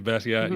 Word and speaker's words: Basquiat: I've seen people say Basquiat. Is that how you say his name? Yeah, Basquiat. Yeah, he's been.